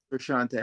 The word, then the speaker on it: Frusciante: Frusciante John Frusciante.